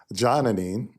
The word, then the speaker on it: Janani: Janani. Yes. Okay, so did I pronounce it correctly?